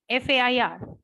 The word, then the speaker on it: fair: where I say fa f a i r Fair it's monosyllabic because R is silent so you're not going to pronounce that R whereas in fan you're